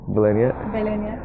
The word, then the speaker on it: Velenje: Yeah like villains like Velenje Velenje okay.